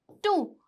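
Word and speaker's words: two: जैसे कि answer, टू, टू, ठीक है। तो यहाँ पे भी डब्लू की साउंड क्या है? साइलेंट है, कोई साउंड ही नहीं है।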